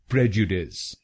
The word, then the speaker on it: prejudice: British pronunciation इसको बोलेंगे प्रेजुडिस। प्रेजुडिस। इस शब्द में 3 शब्दांश हैं। पहला शब्दांश है PREJ, दूसरा शब्दांश है U और आखिरी शब्दांश है DICE।